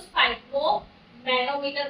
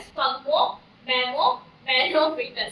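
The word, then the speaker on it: sphygmomanometer: तो स्पाइको, वैसे तो इसको स्पाइको मैनोमीटर बोलते हैं, बट ऐसा नहीं है, इसकी करेक्ट प्रोनाउंसिएशन है स्पग्मो मैनोमीटर, स्पग्मो मैनोमीटर।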